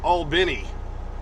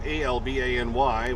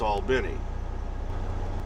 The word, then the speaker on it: Albany: told me it's pronounced albini albany georgia uh even though it's spelled a-l-b-a-n-y where you'd probably say well that's albany well like albany new york but apparently down here it's all benny yeah today is the